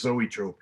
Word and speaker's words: Zoetrope: his original band is zoetrope zotrope no one really knew how to pronounce it he said it was zoetrope i used to run